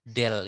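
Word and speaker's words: ∂: kalau di sini kita menggunakan operator ini ya, del ini ya, apa namanya? Del kita bilangnya. Jadi membacanya adalah ya U diturunkan 2 kali terhadap T sama dengan C kuadrat itu konstanta ya.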